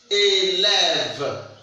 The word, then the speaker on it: élève: So here you see this E is what? The silent E. We don't pronounce the E. The accent grave that we see here make the sound what? And the accent aigu that is standing here make the sound what? And this one is what? Silent E. Silent E. So we don't pronounce it. So it is a silent E. So we have élève. We don't pronounce it. It's silent E.